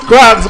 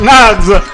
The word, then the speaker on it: Nags: She reminded me that it's not Crabs but Nags.